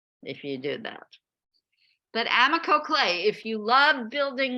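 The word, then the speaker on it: AMACO: The best clay company on earth is called Amico. It's spelled A-M-A-C-O.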